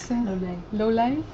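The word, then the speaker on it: Lolei: I did find it on Lolai, is that how you pronounce it? Lolai, yeah.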